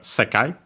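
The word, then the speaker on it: 世界: After that we have sekai. A Chinese compound accent on the first syllable means word.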